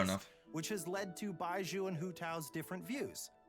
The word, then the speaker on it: Baizhu: We didn't really get to see much of Baizhu in the story as opposed to other characters, right?